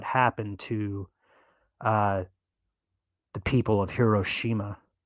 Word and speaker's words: Hiroshima: to the people of Hiroshima I wish I could say it like a Japanese person, like Hiroshima. But I sound like I'm sneezing, so I won't say it like that.